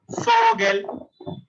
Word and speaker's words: Vogel: Vogel, Vogel, Vogel. It's a Vogel, right? Fow. Remember this V. It's not a V sound. You have to say F sound for this pronunciation.